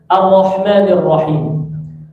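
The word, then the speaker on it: الرحمن الرحيم: Jadi bacanya a tipis masuk ke ro, Ar-Rahmanir Rahim. Ya. Ar-Rahmanir Rahim. Hi. Jangan masuk itu him, ya gitu ya. Awas. Ar-Rahmanir Rahim. Ya. Ar-Rahmanir Rahim. Mimnya enggak dibaca tebal, bukan na.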